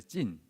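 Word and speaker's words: צין: 민수기 신 광야는 미드바르 찐입니다. 찐 약간 찐 우리 발음이 뭐 이제 히브리어 발음이라서 다르지만 신하고 약간 비슷하지만 찐입니다.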